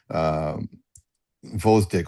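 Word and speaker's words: Gvozdyk: It's not spelled as we would spell it in America, but I write it the way we would spell it. So Vozdik is Gvozdik, right? In America, it would be Vozdik.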